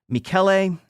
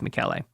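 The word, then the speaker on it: Michele: Which to me looks like it's spelled Michelle if anyone's curious. Yeah. But it's like the French but it's not. It's Italian. So it's Mikuel.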